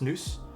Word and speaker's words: NOS: It's pronounced Noose.